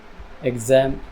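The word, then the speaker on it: exam: तरह से निकलती है और एक दूसरी साउंड निकलती है जेरोक्स एजम एग्जांपल ज की ठीक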